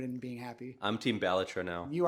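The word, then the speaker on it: Balatro: It's a Latin word. It exists. It has a pronunciation. What does it mean? Jester. I'm It's not a word he made up. It's batro.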